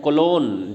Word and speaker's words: Cologne: 1525 eight कोलोन, जी silent है इसमें। ये विलियम इसकी बात कर रहे हैं, टेंडल की।